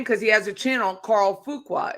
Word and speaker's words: Fuqua: I'll say his name because he has a channel, Carl Fuqua. It's Fuqua, and he has a Cybertruck.